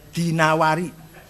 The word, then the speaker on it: Ad-Dinawari: Jangan Ad-Dainuri bacanya, Dinawari. Jangan Ad-Dainuri, enggak ada kota Dainur, ada Dinawar. Al-Asma'i, enggak ada Asma'i, Asma'.